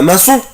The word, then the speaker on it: maçon: un maçon un maçon un maçon un maçon un maçon البنا. فاكرين طبعا احنا قلنا العلامة اللي تحت لتر سي دي علامة اسمها اكسون سي دي عشان انطق حرف السي اس.